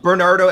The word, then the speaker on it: Bernardo: So Bernardo, as you would normally, Bernardo.